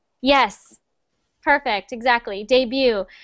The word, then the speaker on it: debut: Debut. Yes. Perfect. Exactly. Debut. So we don't pronounce the T, so just debut.